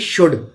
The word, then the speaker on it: should: और SHOULD शुड, इसको शुल्ड नहीं पढ़ेंगे, इसमें L साइलेंट रहता है, टॉक में L साइलेंट रहता है।